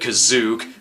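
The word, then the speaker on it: Kashyyyk: on Chuy's home planet Kashuk because of course the word cash is in the name the special pronounces it cos ook because if the plot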